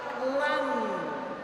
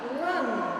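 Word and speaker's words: لن: Jadi coba kita lihat ayat ongkok ini diawali dengan kalimat lan walan tard antal yahudu walan nasoro dan seterusnya. Jadi bukan la tapi lan kita membacanya.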